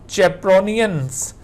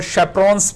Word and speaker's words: chaperone: ये चेप्रोनियंस या इनको शेप्रॉन्स भी कहा जाता है, दोनों प्रोनाउंसिएशंस यूज की जाती हैं।